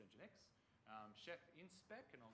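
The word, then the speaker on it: nginx: so we look at engine X not in jenks pronounced engine X chef in spec and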